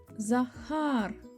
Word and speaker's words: Захар: а а р Захар наголос Захар на другу а на другий склад за хар і останнє слово Зарина